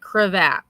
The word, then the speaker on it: cravat: Cravat. Create. Create. Okay. I had to learn how to pronounce it. Crevette.